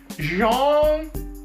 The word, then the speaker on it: Jean: than aware of uh my fondness for uh John Claude Van Damme uh sometimes I've been wrong I call them Gene and sometimes I call him John but I've